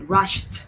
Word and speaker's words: rushed: Okay, rushed. Again, T sound.